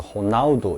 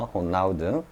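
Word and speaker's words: Ronaldo: 보통 저쪽에 남미 쪽에 R은 H로 주로 발음이 되는 모양입니다. 되고 저 에어 발음은 잘 발음을 안 하는 것 같습니다. 그래서 호나우두 이라죠, 그죠?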